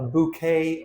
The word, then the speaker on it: bouquet: A bouquet of flowers. Talked about this word before. It comes from the French language. When the word ends e, it's not an e sound. is an a sound.